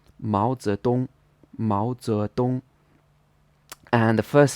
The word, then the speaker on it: Mao Zedong: So it should be pronounced with a second tone, then a second tone, then a first tone. Mao Zedong, Mao Zedong.